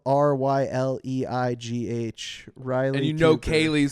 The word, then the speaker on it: Ryleigh: Riley Cooper joins me now.